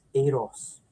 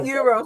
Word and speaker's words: Eros: he's used to it, but yes, Eros. Eros. Okay. So, More like the mint chocolate Aero. okay. Not euros, not the money.